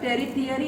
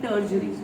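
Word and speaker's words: tertiary: इसको टेरिफियरी नहीं बोलेंगे इसको बोलेंगे टर्जरी ठीक है श बोलेंगे टर्जरी टी जो है वो साइलेंट होता है इसमें तो टर्जरी कलर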